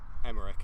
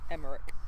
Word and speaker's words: Emmerich: Emmerich is the correct pronunciation. Emmerich.